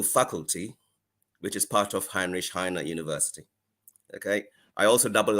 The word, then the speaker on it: Heinrich Heine: Henry Kane University. Prof, I don't know if I got the name correct. How do you pronounce it in German language? It's Heinrich Heine.